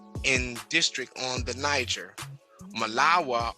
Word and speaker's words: Malawa: Malawa, or Marwa as the Negroes pronounce it, to substitute the R for the L, is the next extensive in its limits to Borno.